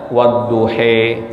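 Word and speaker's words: والضحى: Tadi wadduha walaupun fathah ternyata dibacanya wadduhe. Ada juga yang taklil ya, itu wadduhe itu imalah ya. Ada juga dengan taklil wadduha ya.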